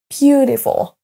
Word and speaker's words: beautiful: Les deux mots à l'écran sont accentués sur la première syllabe. Beautiful, beautiful, beautiful.